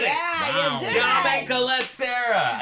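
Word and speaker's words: Jaume Collet-Serra: Jaume Colette Serra. There, I said it. Yeah, you did. Jaume Colette Serra.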